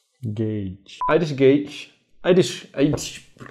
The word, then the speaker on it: Gauge: Irish Gauche, Gauche, ¿cómo se pronuncia Gauche? Gage.